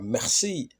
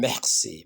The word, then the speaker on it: merci: bogora merci monsieur president of course are in French is not pronounced as R you're supposed to go like I see you're Crossing and let's see you're coughing you know and Mercy Mercy monsieur then complete that part